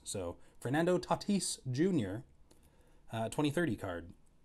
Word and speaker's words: Tatis: all over fernando tatis tatis i gotta remember to say it that way i learned how to say his name just by reading it my brain went tatus because i don't see